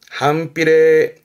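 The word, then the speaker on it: 反比例: 발음은 한필레 한필레 한필레죠.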